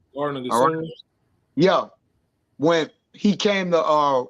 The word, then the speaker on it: Gethsemane: And the same thing Yahweh shall say it unto him in what is Gethsemane? I already said it wrong. Garden of Gethsemane.